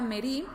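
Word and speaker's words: מרי: Pero existe otra palabra, y esto es algo bastante interesante porque existe otra palabra que se pronuncia igual, pero se escribe de distinta forma, ¿sí?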